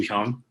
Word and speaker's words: Hyung: Yeah, the Korean pronunciation is Hyung. Yeah. Chung. Okay. Hyung. So like it's the way I tell people is like Hyundai, the HY, or like just add